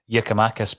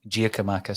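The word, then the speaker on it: Giakoumakis: talking about yakimakis um pronunciation uh yakimakis because I keep calling himachus so uh I do take the feedback there you go um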